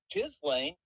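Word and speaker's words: Ghislaine: __ ] And then Jizlane, which is the proper way of pronouncing it, said the other day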